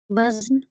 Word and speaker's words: وزن: وزن سر۔ وزن۔ جی، اس کا درست تلفظ ہے وزن، والوزن بالقسط۔ تو وزن ہے یہ لفظ، لیکن ہم عام طور پر اس کو وزن پڑھتے ہیں، جیسے حزن ہے، وزن ہے۔ اچھا، میرا 10واں کویسچن